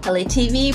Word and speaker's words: ELAYTV: And the About channel, LA TV, pronounced like LA, like the city, is a platform filled with a menagerie of artistry.